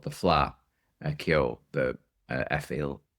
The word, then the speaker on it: Fleadh: I was just actually on Saturday there's the Irish music festival every year it's called the Fleadh uh Cheoil the uh Cheoil. It's spelled Fleadh f l e a d h and it's the Irish traditional music and festival.